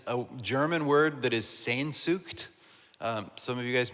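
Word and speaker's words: Sehnsucht: And I think you're supposed to make a weird noise in your throat when you say it.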